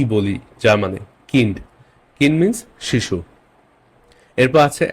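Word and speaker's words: Kind: কা স কা এন্ড এখানে একটা ইংলিশ জার্মান ওয়ার্ড দেখছি এটা কিন্তু কাইন্ড না কাইন্ড ইংলিশ হতো যার মানে এটা হবে কিন্ড কিন্ড okay B আই কে আমরা আই বলি না ই বলি যার মানে কিন্ড কিন মিস শিশু এরপর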